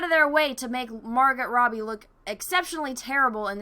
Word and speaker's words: Margot: Margot Robbie I know I always say it wrong I apologize I'm American when you put a T at the end it's hard not to want to say it but to make someone